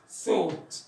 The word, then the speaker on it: thought: طب تي اتش هو هتبقى ثوت. الجي اتش هنا ما بتتنطقش.